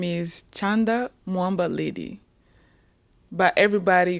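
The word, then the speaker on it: Mwamba Lydie: Um, my name is Chanda Moa Lady, but everybody call me.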